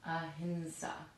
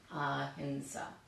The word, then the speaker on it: ahimsa: The little dot, a hing. And then this is the letter sa. And then we have a long a after the sa, so we're going to draw an extra staff. That makes it the long a, ahinsa, ahinsa.